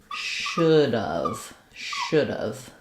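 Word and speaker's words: should've: It sounds like should have. So we don't have any a vowel once we contract it. We lose both the H and the A, and the VE just sounds like of.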